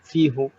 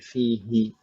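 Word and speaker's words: فيه: Dan agak aneh juga diucapkan dan didengarkan fihu. Jadi di sana ada perubahan bukan karena pengaruhnya i'rab tapi karena penyelarasan bunyi jadi fihi gitu ya.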